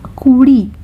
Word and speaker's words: কুড়ি: Kuri, this syllable over here, it's not pronounced as ra. I know I've represented it with an R because there's no letter for this sound in English, but it is not it's not pronounced as R, it is a hard consonant, and it will be pronounced by curling your tongue at the back of your mouth, near your teeth, and it is a sound which is closer to D.